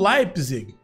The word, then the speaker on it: Leipzig: deixado como gravado, que essa equipe aqui se pronuncia como Red Bull Leipzig. Então não tem problema não, então vamos chamar agora de Red Bull Leipzig, que tá ótimo, a pronúncia é bem fácil mesmo, como me disseram.